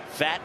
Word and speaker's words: Pfaadt: Talked with Pfaadt yesterday, and he joked his name is spelled P-F-A-A-D-T. And then he went to Bellarmine. He said a lot of times he was fat from Bellarmine.